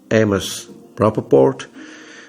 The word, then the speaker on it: Amos Rapoport: Je me souviens que Amos Rapoport, ou bien Amos Rapoport, prononciation anglaise, le fameux anthropologue, et parmi d'autres, qui ont participé à ce colloque.